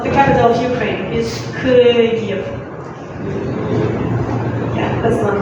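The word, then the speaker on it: Київ: So the capital of Ukraine is Kyiv. Yeah, that's one. Kyiv.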